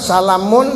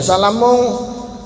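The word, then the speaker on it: سلامٌ: Salamun dibacanya salamung padahal salamun.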